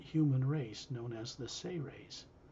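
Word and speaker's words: Seres: race known as the say rays it's spelled s-e-r-e-s but pronounced as if it was spelled s-a-y hyphen r-a-y-s say rays he's showing you an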